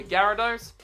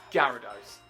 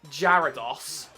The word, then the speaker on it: Gyarados: or Pokemon challenges himself would say Gyarados even though he pronounces it jaros yeah I'm calling you